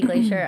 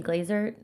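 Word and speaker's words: Glaser: Nikki, I mean, obviously she's already touring, but Nikki Glacier, uh, she literally Nikki Glazer, uh, how do you say her last name?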